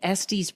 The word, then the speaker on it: Estes: that's the one okay I always want to say sd's because isn't it estis Park it's a lot of people I find will pronounce it that way but typically closer out west we all just kind of mumble it as this okay yeah we have